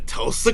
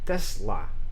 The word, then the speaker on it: Tesla: you have also electrified the tulsa coil learn to pronounce it properly tesla tesla fine write it down